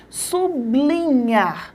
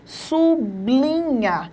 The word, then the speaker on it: sublinhar: iria errar por quê Porque a minha linguagem coloquial faz com que eu pronuncie a palavra de uma forma errada sub linhar não é assim a mesma coisa acontece